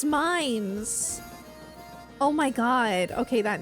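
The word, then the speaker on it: Mainz: Oh, mains is pronounced mines.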